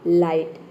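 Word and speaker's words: light: तो यहाँ पे देखिए आई का आई हो गया और टी का हो गया ट, ठीक है। जी एच साइलेंट है, ये हो गया आपका लाइट।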